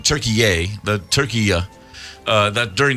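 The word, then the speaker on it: Türkiye: Turkey or I believe as they now pronounce it turkeyy the turkey uh that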